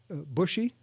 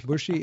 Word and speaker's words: Boucher: uh changed there's a bushy there's some people pronounce bushy it's that that b